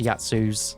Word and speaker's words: Yazi: When I've looked it up, it says Yatsus, so that's what I'm going to be going for this game. But I know it's spelt Yazi, so it always baits me in.